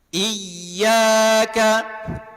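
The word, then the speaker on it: إياك: Iyyaka iyaka tasdid huruf ya. Sekali lagi setiap yang bertasydid dia mesti nabar penekanan suara.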